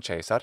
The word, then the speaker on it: Caesar: So nam Caesar, hey look, he pronounced it correctly in ecclesiastical pronunciation.